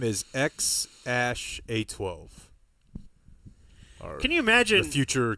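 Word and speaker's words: X Æ A-12: X um and then the AE is like pronounced Ash um Rogen just laughing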